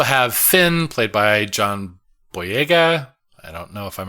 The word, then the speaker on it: Boyega: so we also have Finn played by John boyega I don't know if I'm ever pronouncing his name right that is that is